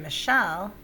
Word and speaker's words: Michelle: accented in that case whereas in michelle the second syllable is accented hear the difference same